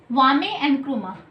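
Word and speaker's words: Kwame Nkrumah: Next one इज घाना के कौन थे, वामे एनक्रुमा, ये के से स्टार्ट है, के इज साइलेंट, वामे एनक्रुमा।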